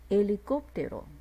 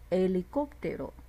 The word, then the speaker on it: helicóptero: 那所以我们可以在两个字里头看到阿且的出现是不发音的情况。 helicóptero ipo helicóptero ipo。